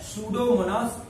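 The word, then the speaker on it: Pseudomonas: Example है सूडोमोनास, spelling P से start होगी, पी साइलेंट रहेगा, PSEUDO, सूडोमोनास। सूडोमोनास नाम का जो बैक्टीरिया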